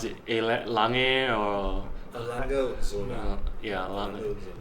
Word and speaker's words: Lange: Actually, what do you pronounce it? Lange or? Lange Zona.